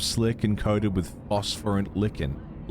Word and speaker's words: lichen: The walls are damp, slick, and coated with phosphorant lichen. Lichen is how you say that word.